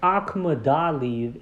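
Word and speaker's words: Akhmadaliev: And Akhmadaliv is how I properly pronounce this man's name. And as I said, Akhmadaliv or Sam Goodman is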